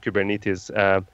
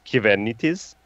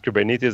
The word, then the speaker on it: Kubernetes: actually just to give you a secret everyone mispronounces cuban it is the right way of saying kubernetes in greek is given it is I know this because I'm originally from Cyprus